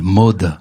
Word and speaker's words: Maud: maud vous a vu qu on le prononce à la toulousaine mode mode ce qu'on pourrait faire